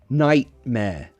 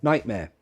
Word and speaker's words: nightmare: Nightmare. 2 ways. Glottal T. Nightmare. Nightmare.